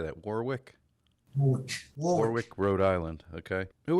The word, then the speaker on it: Warwick: in warwick what how do you say that warwick warwick rhode island okay who are some of